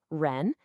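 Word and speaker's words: 亻: And this specific radical, ren, is pronounced ren and it means person.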